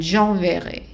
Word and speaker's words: enverrai: So don't put the stress at the end. J'enverrai.